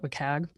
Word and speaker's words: WCAG: As I said, I've heard that it's like a trivia, or not a trivia question, but like a, how do you pronounce it? I call it WCAG.